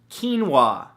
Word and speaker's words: quinoa: beautiful thing number two quinoa spelled ke en wuah no that's not how it's spelt at all but it should right come on English now the great thing